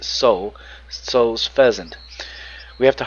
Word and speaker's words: Tso: I'm pronouncing that right, Soul. I don't think the T's pronounced. I think it's just Soul.